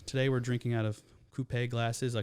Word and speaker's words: coupe: Today we're drinking out of coupe glasses. I call them Max. Please say it right. Coupe.